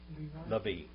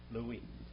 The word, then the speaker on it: Levi: Levi. Levi. How do you say it in biblical Hebrew? Louis.